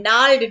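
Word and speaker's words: gnarled: और नाल्ड डिजीज, ये जी से स्टार्ट है स्पेलिंग, लेकिन उसका प्रोनाउंसिएशन होता है नाल्ड डिजीज।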